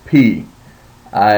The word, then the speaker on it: pi: and probably know uh we call it Pi in uh in our English American English uh but it's actually pronounced P now remember that if